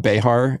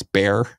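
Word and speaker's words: Bexar: Our county is spelled B-E-X-A-R, and it's not Behar, it's Bear.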